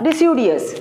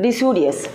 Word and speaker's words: deciduous: When we are in the small class, deciduous, we pronounce like a deciduous.